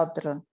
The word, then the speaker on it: autre: Se pronuncia otro y autrui.